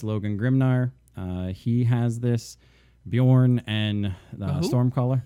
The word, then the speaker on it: Bjorn: Bjorn and the Stormcaller. Bjorn. That's Bear.